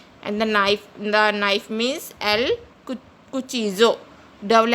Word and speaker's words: cuchillo: And the knife means el cuchillo. Double L is pronounced as J in Spanish, so it is pronounced as cuchillo.